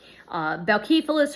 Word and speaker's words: Boukephalas: Boukephalas or Bucephalus, both are pronunciations. One's more Greek. The first one's a little more Greek than the other.